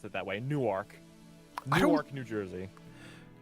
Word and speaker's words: Newark: it's actually spelled new it's spelled like new arc Super Saiyans funny new arc okay maybe maybe I should pronounce It That Way Newark Newark New Jersey like